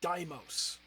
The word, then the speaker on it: Deimos: It's Dimos. It's pronounced Deimos.